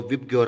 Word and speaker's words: VIBGYOR: सो विबग्योर आप इसको pronounce कर सकते हो।